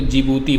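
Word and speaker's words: Djibouti: यहाँ पर जिबूती आपको दिख रहा है, देखो जिबूती देश जो है ना, बोलोगे तो आप जिबूती, लेकिन डी साइलेंट होता है और डी से ये पड़ता है देश का नाम, ठीक है ना।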